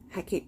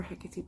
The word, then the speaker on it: Hecate: I am running Hecate Press, or Hecate Press, however you want to pronounce it really.